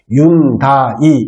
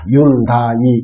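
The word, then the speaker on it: Hyundai: 현대는 H는 제일 앞에 나온 H는 무음입니다. 발음을 하지를 않습니다. 그러면 YUNDAI 같은 경우는 윤다이 이렇게 읽으시면 됩니다. 윤다이 이렇게 읽으시면 됩니다.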